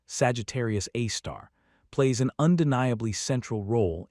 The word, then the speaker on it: Sagittarius A*: This invisible monster known by its formal designation as Sagittarius A, pronounced Sagittarius A star, plays an undeniably central role in shaping the structure and behavior of our galactic home.